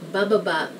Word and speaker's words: bababa: This first one is actually a sentence, and it's just made of one syllable, which is ba. So it goes baba. It means going down. Baba means down, and bababa means going down.